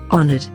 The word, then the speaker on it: honored: And here's how it should be pronounced. Honored.